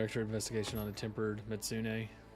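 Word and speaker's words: Mizutsune: But this gives me just another extra investigation on a tempered Mitsune. It's funny. Everybody says Mitsune, but I think it's Mitsu Mitsutsune. Mitsutsune, I think is how it's pronounced.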